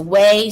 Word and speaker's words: Wei: u n g okay so it's a way so w e i